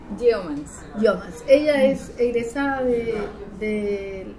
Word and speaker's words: Yeomans: Doña Gael Yeomans. Sí. ¿Lo pronuncié bien? Algo. A ver, dígalo usted. Yeomans.